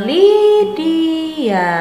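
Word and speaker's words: Lydia: i a seperti ini Jadi dibacanya Lidya apa anak-anak ya Didia Ho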